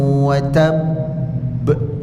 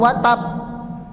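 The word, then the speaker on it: وَتَبَّ: Jadi kalau berhenti jangan cuma watab atau watab tidak ada gantung.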